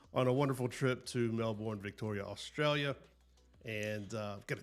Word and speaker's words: Melbourne: As I said, they have a That's not how they say it. How do they say it? Melbourne. Mel Melbourne. Melbourne. Very distinct.